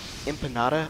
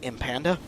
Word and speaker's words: empanada: Okay, the word is empanada. I'm assuming it means pie or something. I don't know. They pronounce it empanda.